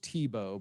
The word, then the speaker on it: Thibeault: yeah so bridget uh it's pronounced tebow but it's not it's not spelled it's t-h-i-b-e-a-u-l-t yes which folks